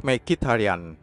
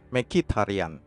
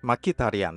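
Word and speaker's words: Mkhitaryan: deretan konsonan pada namanya pronounciation yang benar dalam bahasa Armenia adalah Hendrik mikitarian make it harian Hendrik mikitarian tapi ia bisa menerima jika disebut sebagai Hendrik mikitarian seperti yang selalu dilafalkan orang-orang Inggris waktu dia masih merumput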